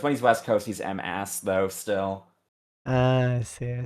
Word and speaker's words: M-AS: There was a Hime player whose name was all caps M-AS, and apparently he says it's just pronounced like Mas, even though that's not what it looks like.